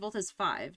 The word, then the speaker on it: Voltes V: Actually, I think they pronounce it Voltes 5, don't they?